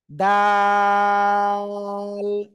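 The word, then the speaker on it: د: এরপরে আরেকটা অক্ষর শিখবো জিহ্বার আগাটা এই সামনের উপরের দুই দাঁতের গোড়ার সাথে লাগান লাগান লাগান সবাই লাগান সবাই এরকম লাগান লাগান লাগিয়ে উচ্চারণ করতে হবে কোন অক্ষরটা আমি লিখতেছি দেখেন দাল তিন আলিফ টান হবে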